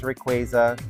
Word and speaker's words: Rayquaza: I know it's pronounced Rayquaza. I'm gonna say Rayquaza.